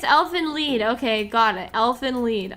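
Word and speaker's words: Elfen Lied: is elf and lead. If you want to say the correct pronunciation, Germans get excited if you say it the correct way for the first time. Okay, it's elf and lead.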